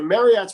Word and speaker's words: Maryott: with us yeah so marriott's pronounced just like the hotel but it's m-a-r-y-o-t-t and